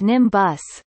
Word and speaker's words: NIMBioS: Known by its acronym NIMBIOS, pronounced NIMBUS, the institute is a National Science Foundation (NSF)